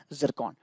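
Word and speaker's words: Tsirkon: है जिसका नाम है जिरकॉन। टी इसमें है बट टी साइलेंट है, आपको ध्यान रखना है, जिरकॉन इसका नाम है, ठीक है।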